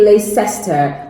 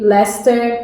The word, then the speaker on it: Leicester: with this name and usually say lace tester which is incorrect so pronouncing it correctly should be Leicester City yeah doodle rat